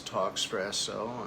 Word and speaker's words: Talkspresso: That's Talkspresso, I guess it's spelled Talkes, like the drink espresso, Talkspresso.